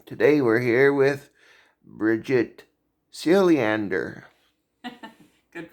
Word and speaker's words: Siljander: This is the Cruiser Chris World Network, and today we're here with Bridget Siljander. Good pronunciation.